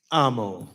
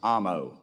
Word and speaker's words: Amo: how do you say your last name Gabe Amo Amo all right brother I got it all right